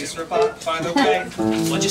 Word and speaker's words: Rabat: But it doesn't rhyme with cat. It's Rabat.